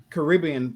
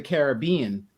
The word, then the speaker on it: Caribbean: Why is Caribbean pronounced differently? It's Pirates of the Caribbean, but it's a Caribbean beach.